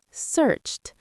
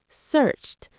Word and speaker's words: searched: Now, searched, searched. That's a T ending.